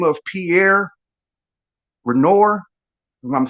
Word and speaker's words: Renoir: fact our artist by the name of pierre renoir i'm saying his last name wrong r e n i um let me